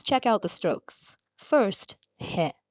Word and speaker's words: へ: First, he, pronounced hie, like in helicopter.